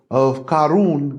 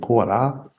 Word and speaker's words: Korah: So this Dathan and Abiram, you know, good friends of Karun, which is how they say it in Arabic, but we say Korah.